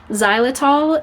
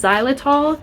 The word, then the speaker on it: Xylitol: for your dogs um it's not spelled the way it sounds it's spelled like X Y zai l i t o l um so do not